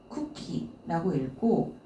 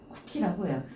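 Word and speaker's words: 茎: 줄기경 얘도 이제 그 쿠키라고 읽고 줄기의 의미를 가지고 있는데요. 이거는 왜 야채들 있잖아요. 야채들 그 예를 들어서 우리 그 뭐죠? 열무를 보게 되면은 이파리에 그 줄기 있잖아요. 그 줄기는 쿠키라고 해요.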